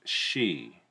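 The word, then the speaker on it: Sidhe: It's pronounced she.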